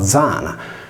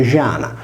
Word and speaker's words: Zana: luna era detta Diana, vergine che si leggeva Zana nella lingua parlata. Se la Z di Zana è preceduta da una parola che termina per vocale, il suo suono perde di forza, passando da fricato a fricativo e si legge Giana, per cui le nostre